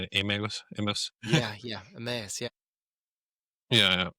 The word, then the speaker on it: Emmaus: Emmaus?